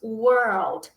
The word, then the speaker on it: world: Mundo em inglês dizemos world. World. Por que, que a pronúncia confunde? Porque quando chega aqui nesse RLD, a gente tem que dar uma enrolada com a língua, ó.